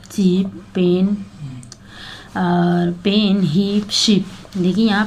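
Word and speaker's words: Xi: pronounce एी ठीक है इसको चाइनीज में शी बोलते हैं एक्स आई सी को ठीक है एंड द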